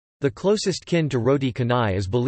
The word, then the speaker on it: canai: Roti kanai pronunciation, tanai, also known as roti kane, tane, or roti